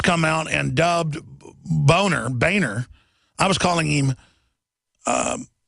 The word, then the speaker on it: Boehner: your family name but he even had a campaign when he first ran for congress saying it's Boehner not boner we had to find